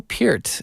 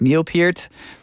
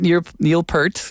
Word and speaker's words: Peart: Before we get to Ginger Baker, Neil Peart is often, and I think there's confusion. How do you say it? It is Peart. Neil Peart, not Neil Peart, which, I get it. The spelling is not clear.